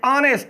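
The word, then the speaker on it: honest: यहां पर एन क्यों लगाएंगे, क्योंकि एच जो है ये साइलेंट है, ये एच जो है क्या है, साइलेंट है। ऑनेस्ट वावल की साउंड पर प्रोड्यूस कर रहा, ओ है आगे, ओ क्या है, वावल है, ऑनेस्ट।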